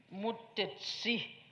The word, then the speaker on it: Mutesi: also in Ankole, but in Ankole, they pronounce it a bit differently, Mutesi with the TSI, and that means a favorite child.